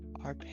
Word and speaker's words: arpeggio: How do you spell that? What? Apeio. Arpeggio.